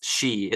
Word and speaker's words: Xi: Trump and telling him it's she I know it's spelled XI but it's she like a woman yeah that was